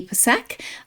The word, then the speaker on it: Psak: name and it is with the P pronounced not silent.